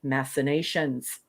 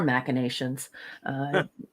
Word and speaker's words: machinations: would resort to such machinations or machinations it doesn't really matter folks you can pronounce it both ways back aboard Deep Space